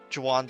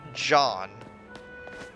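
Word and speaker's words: Jaune: the wand d uh the Jawan district. It's pronounced John, but it's just way too hard for me to for that to come out of my mouth properly.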